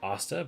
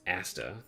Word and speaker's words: Asta: every Breeze is wet I said osta but it's Asta and then I say